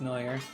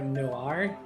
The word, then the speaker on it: noir: oh loopy boy isn't noir pronounced no war or something similar or no r neuer no r noir oh i can go ahead and change my pronunciation sure just no r i want to go